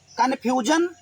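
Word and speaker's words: confusion: जन दोनों पढ़ते हैं, तो यहाँ पर SION लिखा है, पहले क्लियर कर लें, कन्फ्यूजन, अब इसको जन पढ़ेंगे, ठीक है, ये प्रैक्टिस से हो जाएगा।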